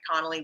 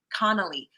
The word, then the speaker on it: Conley: like that, especially Mike Conley. We'll see. I always say Connolly. Mike Conley. 2 syllables.